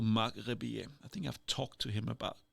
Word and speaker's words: Rebillet: Marc Rebillet is a little bit of a YouTube mini star. He is a American, but he got a French last name, Rebillet. That's how I pronounce it.